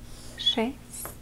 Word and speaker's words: шесть: Шесть. But again, remember that when you're pronouncing it, you will be pronouncing it softer. Like if you would say a sound, so it would be шесть.